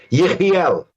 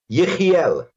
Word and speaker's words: Yechiel: Yechiel. Huh? Yechiel.